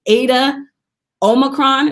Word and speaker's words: Eta Omicron: And in 2012, Jasmine became a member of Zeta Phi Beta Sorority Incorporated through the electrifying Eta Omicron.